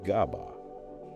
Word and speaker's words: GABA: Glycine for fast inhibition and GABA, pronounced GABA, for a slower tonic background.